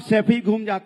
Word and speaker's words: सैफई: आनंद, गरीबी देखनी है ना तो सफाई में जाके देखिए, 500-600 करोड़। सैफई तो बोलना सीख जाओ, सफाई नहीं है, सैफई है।